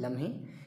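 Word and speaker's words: लमही: को, जन्म स्थान है लम्ही, काफ़ी लोग इसको लम्ही कहते हैं और लम्ही दोनों तरीके से इसको प्रोनाउंसिएशन किया जाता है इसका, जो कि बनारस में है, वाराणसी में।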